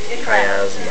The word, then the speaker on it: chiasma: But where they cross is called the optic chiasma. Now it sounds like CH, but it's pronounced with a K.